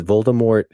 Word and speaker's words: Voldemort: villain as we know Voldemort through the movies as voldemor and that was the original pronunciation and they changed it so it's Vore what